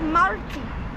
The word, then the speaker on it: Martil: Yeah, I think it's Marti. Yeah. Like a silent L.